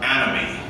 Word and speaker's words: anomie: They described the phenomenon of anomie, it's spelled A-N-O-M-I-E.